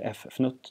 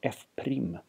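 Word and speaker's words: f′: Då kan vi skriva derivatan som f-fnutt x, men det uttalas inte f-fnutt, det uttalas f-prim inom matematik.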